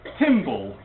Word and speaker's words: TimBL: So Tim Berners-Lee, the chap who invented the World Wide Web, or invented the World Wide Web architecture, his email address at MIT is TimBL, pronounced Timble.